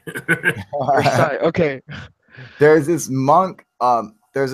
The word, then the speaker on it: Versailles: There's also this It's pronounced in French. It's Versailles. Versailles.